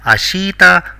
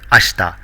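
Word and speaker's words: あした: tomorrow it is not ashita but ashta the i is virtually silent here so it has to be pronounced as ashta next is asate which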